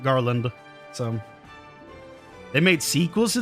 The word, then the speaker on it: Garlond: It's spelt with an O on the end instead of an A. Instead of Garland, it's Garlond. But it's pronounced Garland.